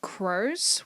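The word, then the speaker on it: kro: in norway we have things called crows which is spelt k-r-o when you go inside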